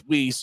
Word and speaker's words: Weiss: in is Tyler whis looks like it's spelled Weiss but it's whis as it Center eyes